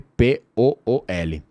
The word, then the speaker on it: pool: Pool se escreve P-O-O-L. Piscina. Alright. Então, o que está acontecendo aqui? Você vê que no final da palavra pool, você continua com a sua boca aberta.